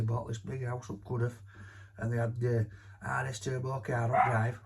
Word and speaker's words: Cudworth: so you know Barnsley I thought it was cudworth it's not good with it could have uh and then what